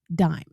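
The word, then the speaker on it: disme: And in the early age of the republic, it was spelled d i s m e, even though it was still pronounced dime.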